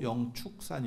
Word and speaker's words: 영축산: 했었는데 어 공식적인 명칭도 영축산 2 9 그리고 무조건 아무튼 축으로 해야 됩니다 취는 안됩니다 그걸 어디서 발견을 했냐면